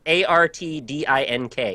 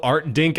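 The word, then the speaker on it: Artdink: heard of them what art say it again spell it art a r t d i n k art dink art dink uh published by Art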